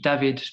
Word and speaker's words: David: Hall, he did the famous David, that's the right pronunciation, David trombone concerto.